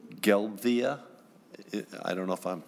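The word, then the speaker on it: Gelbvieh: and committee and Senator Anderson um it's it's pronounced gpy and it's a German French breed in in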